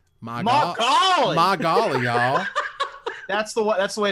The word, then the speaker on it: Magali: Evan, pronounce it really southern, but pronounce it as if you're saying the words M-Y space G-O-L-L-Y. Magali.